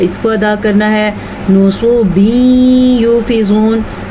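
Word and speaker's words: نُصُبٍ: نصوبین یوفزون نون کو لمبا نہیں کرنا. سواد کو اگر آپ نے پڑھا نصوبین تو آپ نے 2 غلطیاں کر دی, نون کو بھی لمبا کر دی اور سواد کو بھی.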